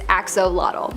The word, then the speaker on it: axolotl: There is much speculation as to how to pronounce the name of this creature, but for the most part, most people believe that it is axolotl.